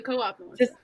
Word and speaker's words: Coop: found something it's the co-op okay oh oh um so so i first found a wikipedia page it says the harvard mit cooperative society or the coop pronounced as a single syllable and they had a